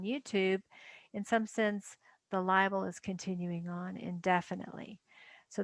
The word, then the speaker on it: libel: under the larger umbrella one is liable libel not not just two syllables libel and this is defamation